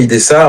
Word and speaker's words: Ydhessä: J'avais un doute justement, il se prononce pas du tout le tréma, c'est IDSA comme ça.